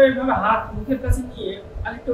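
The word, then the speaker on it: ألف: আলিফ উচ্চারণ করার সঙ্গে সঙ্গে একটা হাওয়া। হাওয়া বার হবে সেটা বোঝার জন্য আলিশ কিন্তু আরেকটা উচ্চারণ সাধারণত মানুষ করে থাকে আরিফ এটা রং এই উচ্চারণটা হবে না তাই প্রিয়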